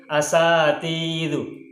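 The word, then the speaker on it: أَسَاتِذَةُ: Sehingga sin ini harus dibaca fathah. Nah, karena sinnya dibaca fathah, berarti bacanya adalah sa.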